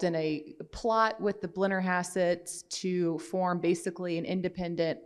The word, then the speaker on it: Blennerhassett: Help me with the pronunciation. Yeah, Blennerhassett Island outside of Marietta.